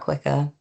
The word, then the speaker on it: Kquika: little bit more about Quicker? Well so I mean we started Quicker in 2021. You know we pronounce Quicker as quicker.